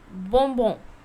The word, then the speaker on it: bonbon: How to say is bonbon. What? Bonbon. Bonbon means sweet or candy. Okay, the meaning of sweet or candy is bonbon.